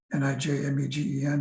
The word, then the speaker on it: Nijmegen: The two good questionnaires for hyperventilation are, I'm sure you've heard of these, the Nijmegen questionnaire, Nijmegen, in case you can't pronounce it right, and the self-evaluation of breathing questionnaire by Roselle McCourtney.